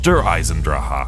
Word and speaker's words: Der Eisendrache: This is Der Eisendrache. And yes, that is how I pronounce this map's name because that's exactly how Dempsey pronounced it in the actual trailer for this map.